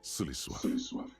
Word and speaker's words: Sulisław: Sulisław. Sulisław, they said it right. It's Polish or Slavic at the very least.